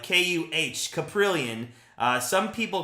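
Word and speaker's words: Kaprielian: it's K like k-u-h caprillion uh some people called it caprilian and I don't think it's a cap I think it's a Ka so caprillion takes the mound Quan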